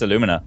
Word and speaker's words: Alumina: Alumina? Aluminium? I think it's Aluminium. I'm pretty sure it's Alumina, but I know, yeah, it is. I just think that's very